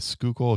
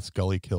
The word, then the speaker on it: Schuylkill: those not from philly we have the schuylkill expressway which which people call the skully kill or whatever you know mispronounce it but uh it should